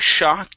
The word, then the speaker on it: shock: this is a big shock give me an sh sound a big shock a big suck okay good good nice job with the sh and the last one